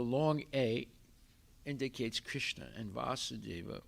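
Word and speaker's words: Vāsudeva: supreme personality of godhead vasudeva with a long a indicates krishna and vasudeva with a short a indicates his father and then uh vyasadeva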